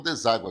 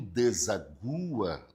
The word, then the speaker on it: deságua: Você fala o rio desagua no mar ou rio deságua no mar. Percebeu que a pronúncia é deságua?